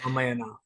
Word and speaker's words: Ramayana: Ramayana. There I you think go. it's I say I've always pronounced it Ramayana, but I think because it's an Indian word.